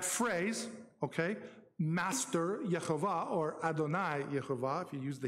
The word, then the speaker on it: Adonai: But that's pronounced Adonai, okay?